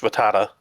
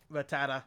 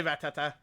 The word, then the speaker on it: Rattata: It's um, it's pronounced Rattata. Rattata. Like Kakuna Matata. I just say Ratata because I find that funnier.